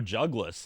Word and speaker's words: Jugless: so what did the jugas character like is there it's just my name but it Rhymes it rhymes with my real name that was it that's basically it jugas let's go boom put